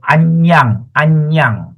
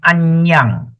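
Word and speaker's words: aññaṃ: So anyang. A-N-N-A-M is pronounced as anyang.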